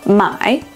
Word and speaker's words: 买: For example, in Chinese, 买 is pronounced with a falling then rising tone.